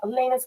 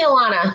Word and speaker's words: Elana: Elena's coming on. Welcome, Elana. How are you? Hi, Amy. How are you? It's actually Elana. It's pronounced Elana.